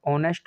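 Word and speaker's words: honest: ए silent रहता है ऑनेस्ट हो गया क्या हो गया ऑनेस्ट ठीक है इनमें ए साइलेंट रहता है तो इसीलिए इनसे पहले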